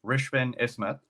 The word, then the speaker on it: Rishvin Ismath: and Thrive so our next guest uh is Richmond isma am I pronouncing that right oh perfect I use mute